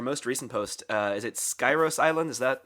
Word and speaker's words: Skyros: Is it Skyros Island? Is that how you pronounce it? Skiros.